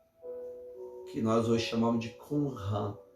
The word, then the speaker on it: Qumran: Era os judeus monges que moravam junto à cidade do sal, que nós hoje chamamos de Qumran, ou Qumran, na pronúncia hebraica, Qumran.